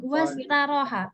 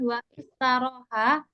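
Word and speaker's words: واستراح: Nama Muhammadun wastaroha, bukan wa istaroha, tapi bacanya nanti melebur, jadinya wastaroha, karena dia hamzah wasal.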